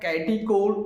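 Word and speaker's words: catechol: इसका नाम होता है कैटिकोल, नाम होता है कैटिकोल, प्रोनाउंस कर सकते हैं, उच्चारण कर सकते हैं, या केटेकॉल भी इसका उच्चारण कर सकते हैं, केटेकॉल या कैटिकोल कह सकते हैं, ठीक है।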